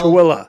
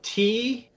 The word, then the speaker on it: Tooele: It's spelled Tooele. Tooele.